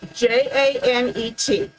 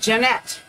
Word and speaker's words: Janet: name was j-a-n-e-t j-a-n-e-t most of you would pronounce that janet nope she was jeanette so it took me half a year to get that in my head that it was jeanette and not janet prince canadian that's where